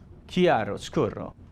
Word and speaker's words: chiaroscuro: And that's called composition, leading lines, and something, and I hope I pronounce this correct, chiaroscuro. Chiaroscuro? Chiaroscuro. Thank you. It's perfect.